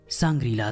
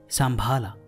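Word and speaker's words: शम्भल: कह सकते हैं कि यह एक तरह का संग्रीला था जिसका सही उच्चारण है संभाला जा संबलपुर है कि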